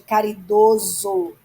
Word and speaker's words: caridoso: O O é fechado, ok?